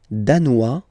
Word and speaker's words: danois: Le Danemark, danois, danoise. Z, okay, insist on that. Danois, don't pronounce the final S.